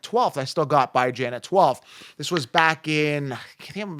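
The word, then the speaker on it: Bijan: pronouncing it right it's by Jan b-i-j-a-n Jan as in ran by as in bi-weekly b-i-j-a-n it's like common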